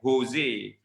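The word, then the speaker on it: José: The letters, although J tu nampak macam J in English, but actually in Spanish is pronounced as the H sound, the H sound, like Jose rather than Jose.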